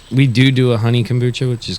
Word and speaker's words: kombucha: started you started a how do you say kumacha kombucha kombucha y uh and what is kombucha like